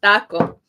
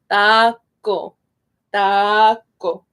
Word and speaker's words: taco: My teacher said the way to do the A in Spanish is you drink water. So taco. Again, the C, we say it harder and it's a little bit softer in Spanish. Taco, taco. And the O is like, oh, taco, taco.